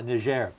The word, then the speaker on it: Niger: pronunciation is correct okay is it Niger or Nazir or help me yeah sure ah Nazir is there confusion with Nazir and Nigeria yes always confused but